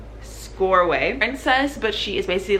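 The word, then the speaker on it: Csorwe: You met this girl, her name, I know how to pronounce it now, it's Scoreway.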